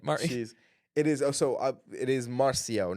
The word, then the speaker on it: Marcio: It's not Marceau because that's what I said. It's supposed to be Marcio.